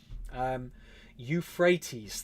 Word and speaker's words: Euphrates: Euphrates.